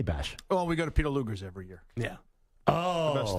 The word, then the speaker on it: Peter Luger: the big birthday bash well we go to Peter lugers every year yeah oh best steakhouse in the country I hate to be that guy though nor deep nor Deeks it's Peter Luger not Lou Gerst well well well it's it's sort of like